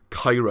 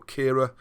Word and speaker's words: Caerau: And in Caerau, just below it, Caira, I think, the North Walian type pronunciation, or Caira, which means castles.